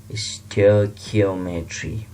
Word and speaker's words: stoichiometry: जैसे कि मैंने यहाँ पर इसकी प्रोनाउंसिएशन इस तरह पढ़ने के लिए यहाँ पर लिखा है स्टोइकियोमेट्री, इसको इस तरह पढ़ना है।